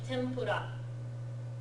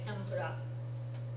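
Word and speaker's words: tempura: or n B and you might sometimes instead see it spelled with an M instead of an N like Tempur anybody ever seen tempas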